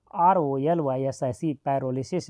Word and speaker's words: pyrolysis: यदि इंग्लिश में ऑप्शन हो तो कन्फ्यूज नहीं होना आप, ये पी यहाँ पर साइलेंट है, याद रखेंगे पी साइलेंट है, इसलिए स्पेलिंग पी से शुरू है। PYROLYSIS पैरोलिसिस।